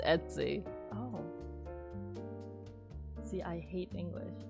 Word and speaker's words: Etsy: Etsy it Etsy no it's not like itsy right Etsy do they have a pronunciation on how this word is pronounced how do you pronounce let's see people have the same question Etsy Etsy so it is Etsy oh see I hate